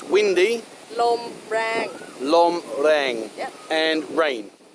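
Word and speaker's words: ลมแรง: Lom lang. Lom lang. Well, it's actually rang, so lom rang.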